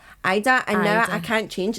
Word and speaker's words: Ayda: I like the AYDA, but it is pronounced Ida, and now I can't change it now because it's on our birth certificate.